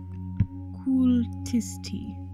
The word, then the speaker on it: Kultisti: How it's pronounced in Finnish is sort of like Kultisti.